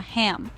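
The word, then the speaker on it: हं: As you exhale, mentally chant the bija mantra ham pronounced like hum but with a soft a.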